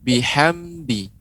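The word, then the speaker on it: بِحَمْدِ: Iya, tapi di catatannya adalah ketika pengucapan huruf ham. Fasabbih biham. Nah, di sini ditekan. Ya, tidak boleh ditekan, Pak. Tapi dia bihamdi. Demikian. Ya, tidak boleh biham. Nah, karena tidak ada tasydidnya.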